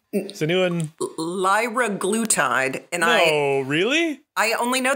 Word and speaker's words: liraglutide: where I fall down, but randomized trial of liraglutide? Is anyone? Liraglutide. And really? I only know that because I looked up the pronunciation.